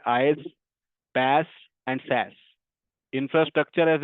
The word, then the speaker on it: IaaS: We pronounce this S आईएस, पैस and cess. इसको ऐसे प्रोनाउंस करते हैं। आईज, पैस एंड सैस।